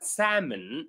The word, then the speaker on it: salmon: And finally we talked about the word salmon where the a where the l is silent.